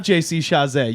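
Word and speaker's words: JC Chasez: Fucking, you have JC Chazé. You've got Britney Spears. You've got Christina. There's a million Thank children. you for pronouncing it correctly, by the way.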